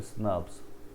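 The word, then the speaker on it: snRNP: proteins के बने हुए स्न प्रोनाउंस करते हैं इसको स्नस एस एन RNA plus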